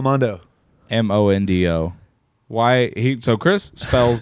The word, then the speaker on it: Mondo: much Mondo Flex how do you spell Mondo m-o-n-d-o why he so Chris spells this m-a-n-d-o as in Mando I don't like the Mandalorian